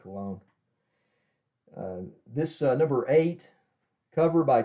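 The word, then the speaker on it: Colón: earlier I said that Ernie Colon's last name was Colin but that's I think he pronounces it cologne this number eight covered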